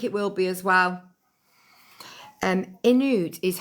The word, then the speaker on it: Inuit: Pronounced Newit. Newit. What's pronounced Newit? It's pronounced Inuit.